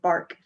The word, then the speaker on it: BRK: the brioche knit, and they call it a bark, BRK, they pronounce it bark.